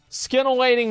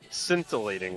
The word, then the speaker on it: scintillating: Skin-awaiting mana ray. Get on the skin-awaiting mana ray. Someone's writing. That's fine. What? Hold on. You know it's pronounced scintillating, right?